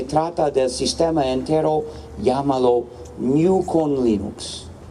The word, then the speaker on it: GNU: quién querría repetir en el entonces si dices new evidentemente es bastante fácil y otros lo dirán